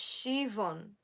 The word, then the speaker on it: Siobhan: oh okay thank you it's shivon shivon really that's how you pronounce it shivon wow I've never